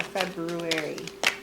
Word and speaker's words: February: the month of february saying fab fewery is always so weird because i always want to pronounce the r february and sometimes i do and i'm just like oh i'm so sophisticated and like no you should just say february whatever anyway um um